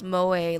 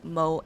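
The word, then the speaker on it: 萌え: I think you pronounce moe like moe, I guess, not mo, because it's like Japanese and they will use those phonetics a bit differently than English.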